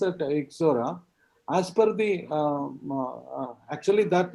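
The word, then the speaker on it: Ixora: the name how how will you pronounce exora exora you pronounce that exora as per the actually that name originates from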